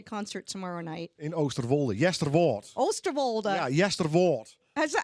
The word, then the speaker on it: Oosterwolde: Yesterwoord. Oosterwolde. Ja, Yesterwoord. Is that how you say it? Yesterwold.